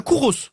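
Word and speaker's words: kouros: statue de jeune homme un cour Ros pardon un Couros un Couros bonne réponse les Courau c'est ce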